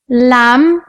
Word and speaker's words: lamb: teachers in the class silent letters are letters that are written but not pronounced like the letter B in bomb Klim lamb some like the letter C